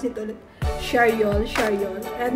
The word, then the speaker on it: Charriol: Ano ba ang pronounce ito ulit? Charyol.